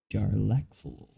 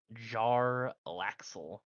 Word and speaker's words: Jarlaxle: Say his name again, or spell it really for me. Let's be real here. Jarlaxle. Jarlaxle.